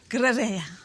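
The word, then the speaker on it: Gruyère: Yeah, I make a fondue, which we use the Carpety Gruyere, and I think it's pronounced Gruyere.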